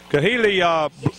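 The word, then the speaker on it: Khali: Kahili Blocker made the tackle, number 28, a running back for Northview, covering the kick real well. So Keely Blocker, I believe is how you pronounce it, K-H-A-L-I.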